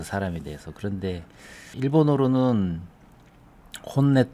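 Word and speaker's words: 本音: 잠깐 일본어 공부를 하면요 어 내라고 읽습니다 혼내 음악이라고 하면 온각 그라고 해서 얘를 온으로 읽어야 되는데 여기선 네로 읽었거든요 이런 경우가 많지 않은데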